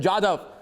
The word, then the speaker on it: Jadhav: Kulbhushan Yadav, you have received a slap from the International Court of Justice. And it's Jadhav, not Jadhav. Please get the pronunciation correct. It's Kulbhushan Jadhav.